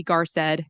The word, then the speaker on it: Garced: So, I'm the agent or Garced is how you pronounce my last name.